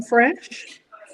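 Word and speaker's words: fraîche: Look, the restaurant I went to today called I think it's pronouncing the right Uh f r a i c h e. Oh like creme fresh.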